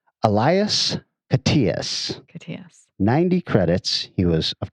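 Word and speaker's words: Elias Koteas: guy a lot and we have pronounced his name various ways i am telling you with authority it is elias patias 90 credits he was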